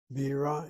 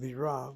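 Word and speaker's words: בירה: Bira is the word for capital, or rather beer, and Bira, with the accent on the last syllable, is the word for capital city. Or maybe I am mistaken.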